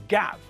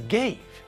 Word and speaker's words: gaff: name my name is gaff for example but lots of people pronounce my name incorrectly they pronounce my name as gave this is wrong gave is the past